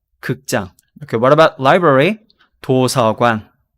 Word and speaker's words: 극장: So be careful about the pronunciation here. 극장. 극장.